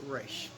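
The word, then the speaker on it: Ra's: ghul or rachel ghoul i pronounce it race because as far as i'm concerned you always you always give way to the animated batman series right and so uh not roz that's from the movie even though i love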